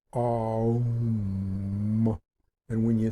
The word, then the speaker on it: om: in your whole being like the OM sometimes spelled o m sound or it can also be spelled a-u-m um is how you basically pronounce it um and when you say